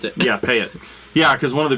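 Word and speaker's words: Payette: drinking beer and we were like man uh payet payet brewing um kind of a big one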